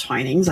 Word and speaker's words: Twinings: I didn't know it was pronounced twinings.